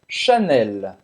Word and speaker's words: Chanel: cocô cocô cocô e janela você vai para anunciar o l no final e ela xanela e a gente se recomenda